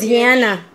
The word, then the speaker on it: Ziana: It's pronounced Ziana, some but people call I. Ziana or Ziana or Ziana or some people. I like Ziana.